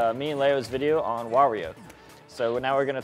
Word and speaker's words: Wario: But he goes, why? So you have to say why as one of the syllables. You're so stupid. You're an idiot. Shut up! Wario!